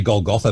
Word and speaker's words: Golgotha: i pronounce this right golgotha uh gold well i say gold gotha but i i i'm pretty sure both are correct well my first inkling